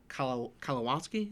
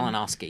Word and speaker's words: Kalinowski: Yeah, he and Mark and Brian are also featured a little bit on Aaron Kalawowski. Is that how you pronounce his name? Kalinowski, yeah.